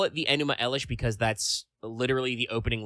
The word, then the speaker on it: Enuma Elish: epic, the Enuma Elish, also sometimes written Enuma Ellis with no H on the end. I'm fairly certain you're supposed to pronounce it Enuma Elish no matter what.